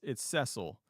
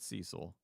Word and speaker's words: Cecil: Now, is it pronounced my way, or is it like the traditionally it's Cecil, but I go with Cecil.